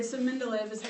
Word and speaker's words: Mendeleev: Mendeleev. Okay, so Mendeleev is how you pronounce that name. So Dmitry Mendeleev is who we have credited with our modern periodic table based on that.